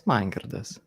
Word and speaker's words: Mangirdas: It's Mangirdas. Mangirdas. Mangirdas. Mangirdas. Yeah, the Danielle actually get it quite right. Nice. Cool. Danielle gets the gold star. Go on, sorry, Yeah. Mangirdas, introduce yourself.